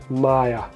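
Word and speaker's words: Maja: It says Petko and Maya, although Maya is spelled with a regular I. Let me show you. So M-A... No, I said wrong, it's J, right? J-A, Maya.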